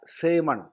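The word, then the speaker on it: salmon: മഹത്വം ഇംഗ്ലീഷ് പോലെ ല്ല ഇംഗ്ലീഷിൽ എന്താണോ എഴുതുക അതല്ല വായിക്കുക സൈലന്റ് ഉണ്ട് മുഴച്ചു നിൽക്കുന്നതുണ്ട് തീരെ ബന്ധമില്ലാത്ത ഉച്ചാരണങ്ങൾ എസ് എഎൽ എം എഒ എൻ എന്താണ് എസ് എഎൽ എം ഒ എൻ സേമൺ ആ മൂന്ന് അതിരിക്കട്ടെ.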